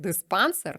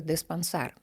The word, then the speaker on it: диспансер: те чи інше слово ось наприклад сер з наголосом на е пішов о диспанср Тобто ми бачимо сер диспансер римується значить диспансер - це неправильний наголос тобто щоб заримувалося має бути диспансер і отримав бюлетень на